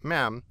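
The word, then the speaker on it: ma'am: your majesty and thereafter as mam pronounced mam with a short a as in jam arms from 21 april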